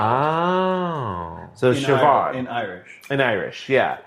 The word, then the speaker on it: Siobhan: So if it's like BH or something like that, it's pronounced with a V? as a V sound. Oh. So Siobhan.